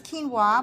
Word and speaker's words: quinoa: It's hard to say, but quinoa, right? When they see how it's spelled, they have no idea. It's quino to me. I'm not going to go there, but to you. To all my friends in North Georgia, it's quino.